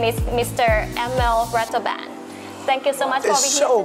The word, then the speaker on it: Ratelband: to pronounce my name because my name is french emil and rattlebond is like a real dutch but you're doing great